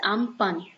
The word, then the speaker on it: Amphan: It is pronounced as Amphan.